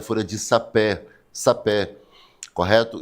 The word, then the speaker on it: sapé: Só que a palavra não é sapê, é sapé.